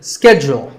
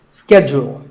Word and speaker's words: schedule: It's not so much that it's mispronounced, it's just that it's said differently in the UK and in the US. In American English, this is schedule. The first syllable is ske and the second is jewel. Schedule. In British English, it can be both schedule or schedule. So you can choose the pronunciation that's right for you.